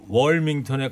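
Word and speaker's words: Wilmington: 청취자께서 윌밍턴의 미국 발음은 윌밍턴보다 월밍턴에 가깝습니다.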